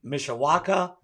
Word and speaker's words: Mishawaka: Bryan now is the director of sales and marketing at TruPay Corporation in Mishawaka, Indiana.